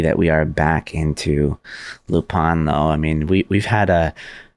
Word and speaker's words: Lupin: Now, the proper pronunciation of Lupin is Lupin, but I find that to say Lupin the entire series is going to be a little bit.